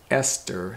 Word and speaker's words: Esther: i said e-s-t-h-e-r and it's pronounced ester so this is even more confusing right in english because